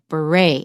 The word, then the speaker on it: beret: surprised now the word beret you can see comes from French so it's stressed on the second syllable we don't pronounce the T and the e sounds like a beret and what kind of